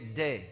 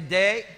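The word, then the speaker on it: δέ: The word D-E-H, or we say day. Et le mot day. Okay, everybody say day. Day. Ça se prononce comme ça en grec.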